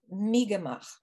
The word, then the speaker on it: Mi'kmaq: with what is called Mi'kmaq, the Mi'kmaq people. I've looked at the pronunciations that are presented now by the tribes, and they say it's more like Mi'kmaq.